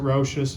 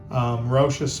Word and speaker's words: Rochas: I pronounce it Rochas.